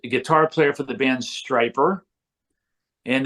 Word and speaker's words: Stryper: player for the band striper and that is spelled why so we people don't confuse it with stripper we're not strippers we're striping I never